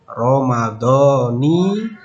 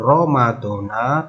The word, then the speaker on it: Ramadhani: Adapun bentuk niatnya jika diucapkan berbunyi nawaitu shauma ghadin an adai fardi syahri ramadhani hadhis sanati lillahi ta'ala. Jadi bukan Ramadona tapi Ramadhani, yang artinya saya niat berpuasa esok hari untuk menunaikan fardu di bulan Ramadan tahun ini karena Allah Ta'ala.